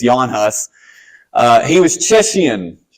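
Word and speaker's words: Jan Hus: guy came up named Yan hus spelled like Janus but it's Yan hus uh he was chesan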